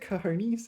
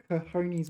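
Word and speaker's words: cojones: Oh, kahones with a J.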